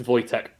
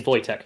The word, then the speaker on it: Wojtek: i go too much because it's polish it's pronounced voy tech is it voiter it is voitec yeah well sorry poland